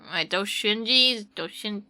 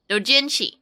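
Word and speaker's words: doujinshi: Or doshinjis? I don't know how to pronounce it.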